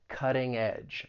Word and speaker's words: cutting edge: I am going to pronounce this as a flap T which is very common when talking about the American accent because that t comes between two vowel sounds so I'll say it as a flap T which is going to sound more like a soft D cutting Cutting Edge and that DG combination an edge has that J sound Cutting Edge and if